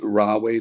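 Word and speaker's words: Rahway: from Portland Maine to how do raway New Jersey is how you pronounce it and yeah raway um so you know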